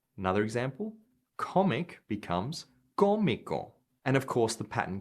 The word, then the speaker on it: cómico: IC near perfect cognates, the accent goes on the syllable just before the ICO. So here are some more examples. Artistic becomes artístico. Another example, comic becomes cómico.